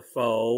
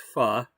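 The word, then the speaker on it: phở: So it's something kind of like dim sum, you know, the foe or the fu. It's pronounced fu. Ph is fu, in case you don't know that.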